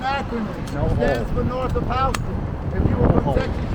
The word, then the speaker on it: Houston: stands for north of Halston. If you were in Texas, you would pronounce to Houston New York, you say.